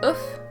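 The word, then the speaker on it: œuf: So you have ouf, singular, and plural, I think. You pronounce the F in the singular form, and you do not pronounce the F or the S in the plural form.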